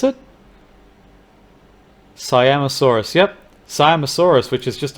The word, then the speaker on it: Siamosaurus: Siamosaurus, is that how you pronounce it? Siamosaurus, yep.